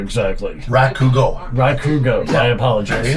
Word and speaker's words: Rakugo: Now, I'm going to mispronounce it, and I do apologize, but what is Ranaku exactly? Rakugo.